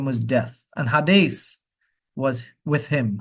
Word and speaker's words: Hades: His name was Death, and Hades was with him. Hades is what we call Hades. We mispronounce the word.